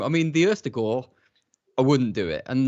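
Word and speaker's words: Østigård: Ust apparently like rust, and the A sound is like lawn apparently, and the D isn't pronounced at the end, which I think makes it Ustigor. Ustigor.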